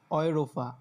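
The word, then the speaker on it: Europa: তারপর দেখেন এ উ, এ উ মানে হচ্ছে কি অয়, অয়, এই দুইটা মিলে উচ্চারণ দেয় অয়, তাহলে কি হবে অয়রোফা, অয়রোফা মানে যেটা ইউরোপ, হ্যাঁ।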